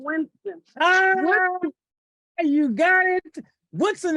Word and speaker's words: Woodson: Woodson is the correct pronunciation of his name, but we will give it to you.